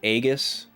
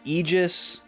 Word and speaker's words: Aegis: There's so many different ways to pronounce this word. I always said agus, but you can say eegis.